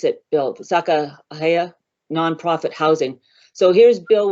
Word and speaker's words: Sacagawea: I'm not sure how you pronounce it, Bill, Sakahaya nonprofit housing. So here's Bill with some of his, how do you pronounce it? It's Sacagawea.